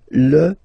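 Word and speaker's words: fils: So it's L and then even if it you've got this L. Well, basically you don't pronounce it and then strangely you pronounce the final S. Lis l.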